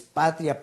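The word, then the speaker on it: πατριά: Aquí hay una palabra griega que es la familia, 3965, que es patria, pero con acento en la A, que quiere decir grupo de familias o una raza, nación, entera familia.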